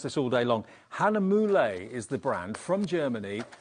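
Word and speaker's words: Hahnemühle: which is we've been talking about how to pronounce this all day long Hanam moule is the brand from Germany let's just show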